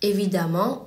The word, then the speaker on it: évidemment: Ensuite, pour les adjectifs se terminant par en, ent, comme évident ou fréquent, le suffixe de l'adverbe sera ement, mais on le prononcera amant, comme évidemment ou fréquemment.